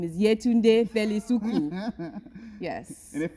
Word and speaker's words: Yetunde: otherwise you want to tell them how to pronounce it oh if you if you are watching this from Nigeria my name is yeah tuned a fairly Suki yes and if for some weird